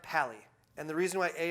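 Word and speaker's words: pa11y: called okay so it's pa-11 why but it's pronounced Palli and the reason why a 11y is because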